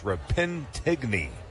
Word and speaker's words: Repentigny: I've been trying to pronounce the name of his hometown correctly. It's Repentigny, Quebec. As the next pitch is a fastball, there's a low strike.